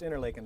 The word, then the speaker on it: Interlaken: And why Pronounced Interlaken by the locals.